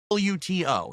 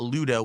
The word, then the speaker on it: Luto: Luto, not Ludo with a D, but I was pronouncing it Luto. And a lot of people are like, oh, why does he say such a hard T? Well, because then people know it's a T and not a D.